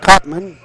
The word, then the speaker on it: Cottony: cottony puts it in cottony is the correct pronunciation five to four Patman